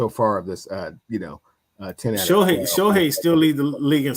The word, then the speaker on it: Shohei: Okay, until they make the playoffs, Cam, I don't really want you statting me to death about Shotani. It's Shohei.